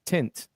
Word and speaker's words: Tint: Tent World. It is not Tent World. Tent. Told you. It is tent, like window tent. Window tint. Am I saying it right? Tent. You're saying 10. It's tint.